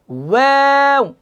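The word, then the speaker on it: و: এই জন্য খেয়াল করেন, ওয়াওটা এইভাবে উচ্চারণ করব, ওয়াও। প্রথমে মুখটা গোল করেন, ওয়াও।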